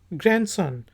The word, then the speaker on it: grandson: फिर वर्ड है जी GRANDSON, ग्रैंडसन। तो डी साइलेंट है, ग्रैंडसन, ग्रैंड daughter, ग्रैंड mother, grandfather, ग्रैंडपा, ग्रैंडमा, इन सब में डी की आवाज़ नहीं आएगी।